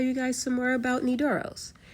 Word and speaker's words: Nydoros: While we're watching this, I'll tell you guys some more about Nidoros. Nidoros, which is spelled N Y D O R O S, and it means night gift.